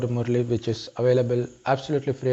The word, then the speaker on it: Murli: It is spelled M-U-R-L-I, Murli.